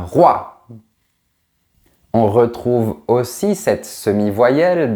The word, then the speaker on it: roi: Par exemple, un roi. On ne dit pas un rouat, on dit un roi.